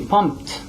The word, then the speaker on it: pumped: Kicked is how you pronounce. Now how about pump? It would be pumped, right?